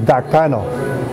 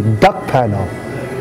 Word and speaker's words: Dakpano: It's funny because my last name is Dakpano, but a lot of people can't pronounce Dakpano. They say Duckpano, right?